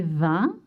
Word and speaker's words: vins: You don't pronounce the S. J'aime ces vins.